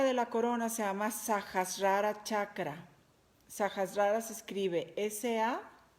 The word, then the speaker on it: Sahasrara: Este chakra de la corona se llama Sahasrara Chakra. Sahasrara se escribe S-A-H-A-S-A-R-A.